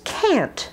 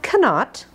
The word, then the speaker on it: can't: find the cat now notice can't not cannot but can't and notice too it has the same vowel a and it's very short and fast can't can't I can't